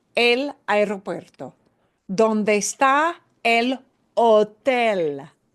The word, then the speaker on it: hotel: ¿Dónde está el hotel? Hotel. We don't pronounce the H in a hotel.